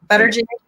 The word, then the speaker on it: Buttigieg: I think Buttigieg, I like his health plan better than your Southern accent is coming out when you're pronouncing his name. Buttigieg.